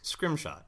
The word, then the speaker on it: Scrimshaw: lot of Scrimshaw, and it's spelled exactly as it's pronounced. It's Scrimshaw, S-C-R-I-M-S-H-A-W. It's not a mystery, but I grew up with thinking, like, man, I have a really complex name.